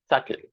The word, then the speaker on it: subtle: B in this word that letter B is silent so we are not supposed to utter the sound of B and as a result